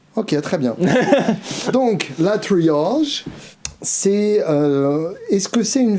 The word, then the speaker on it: Triage: Donc Triage, un nom un peu prononcé à la vieille France.